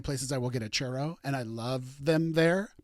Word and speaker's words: churro: in Florida and he does not know how to pronounce the word churro and he calls them cheros and so we made